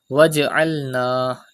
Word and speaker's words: واجعلنا: Waj'alna. Do qalqala in jim.